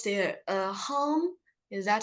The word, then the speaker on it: Haim: I was thinking, I don't know if I can pronounce their hum. Is that how to pronounce it? Haim, is it? Haim. Haim.